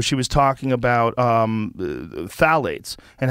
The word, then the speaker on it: phthalates: shanna swann where she was talking about um phthalates and how phthalates are literally causing phthalates or